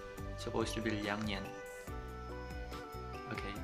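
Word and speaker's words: 两年: Guys, it's not ernian. Liangnian. Supposed to be liangnian.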